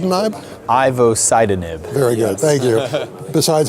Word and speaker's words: ivosidenib: agent it's called it will said and i'm ivo sidon it very good thank you besides how to pronounce it what do we know about it